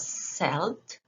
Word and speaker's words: Celt: to google and i typed the word celt c-e-l-t and the pronunciation was selled and if i student